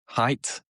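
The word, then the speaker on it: Haidt: H A I DT height.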